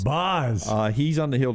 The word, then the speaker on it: Baz: tonight 22-year-old Shane BOS spelled baz pronounced BOS BOS uh he's on the